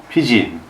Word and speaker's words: pidgin: In the 19th century, when British merchants were over in China trying to trade opium, they found that the locals couldn't even say the word business, and instead pronounced it pidgin, which is why strange colonial dialects are still called Pidgin English.